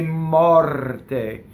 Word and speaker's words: morte: It's a strong monosyllable, so you'd say che morte. Notice that the R rolls. Why? It touches a T. And then the O is open and it's on the stress.